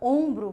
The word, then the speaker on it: ombro: Quando você diz a palavra ombro, por exemplo, o B é pronunciado e o R também é pronunciado.